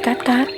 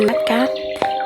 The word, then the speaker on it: Cát Cát: nước đẹp lung Linh trong tiếng Pháp thác nước được gọi là Kaskad phát âm giống nhưt cát đó ngôi làng nhỏ có tên là phát âm giống như cát cát .